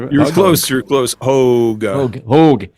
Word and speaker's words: Hoge: Hoge. Rhymes with Hoge. I don't know. Hoge. Vogue. Rhymes with Pogue. The Pogues. Yeah. So, just think that. Yeah. So. Hoge, as in the Pogues.